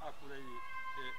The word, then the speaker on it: Akureyri: How do you pronounce Akureyri in Icelandic?